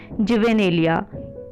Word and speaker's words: juvenilia: So guys, pronunciation है जुवेनेलिया। ये आप मेरे साथ रिपीट कर सकते हैं, जुवेनेलिया।